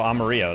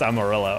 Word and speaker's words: Amarillo: I was like, "Oh, Amaro." They're like, "No, that's not it." I'm like, "That is how you say like, "No, like the town." That's not how you say it. It's Amarillo.